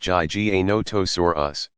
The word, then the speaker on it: Giganotosaurus: dinosaur ever to have terrorized the planet Giganotosaurus pronounced GG a notice or us was slightly longer at nearly 42 feet 12.6